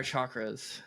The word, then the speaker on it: chakras: I was like, No, but he did it's spelled with introduce the me. CH, but you don't pronounce it with the CH.